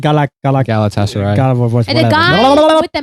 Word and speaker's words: Galatasaray: Galatasaray.